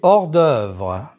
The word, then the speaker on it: hors d'œuvre: Les hors d'œuvre. Liaison and elision are not used with this H.